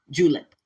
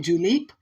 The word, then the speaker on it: julep: And then since 1938, the drink of choice, the staple of the Kentucky Derby is the mint julep, J-U-L-E-P, julep. Okay, some people pronounce it julep.